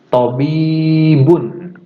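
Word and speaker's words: طَبِيبٌ: Tobibun. Tobibun. Oke, udah ya. Silakan. Kalau misalnya Pak kurang pengucapannya ya tinggal di backward aja videonya.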